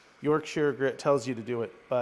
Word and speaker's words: Yorkshire: Yorkshire. That's how you say it.